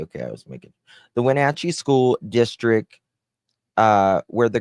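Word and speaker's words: Wenatchee: Let me see how you pronounce that school. Okay, it's Wachi. Okay, I was making the Wachi school district uh where the girls attended Lincoln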